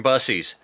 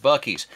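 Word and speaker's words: Buc-ee's: oh that's a nice shirt yeah it's from bussies no I think that's place is pronounced Bucky's no it's busies my dad talks about Bussy all the time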